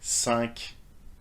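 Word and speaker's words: cinq: apprehend french reading so do you need to pronounce the final consonant or not well it depends for you don't but for sunk you eat nerf you do but it doesn't stop here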